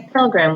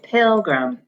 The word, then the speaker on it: pilgrim: pill Oh grim pilgrim but we don't say program we say pilgrim and in this word that first syllable has the accent our last word is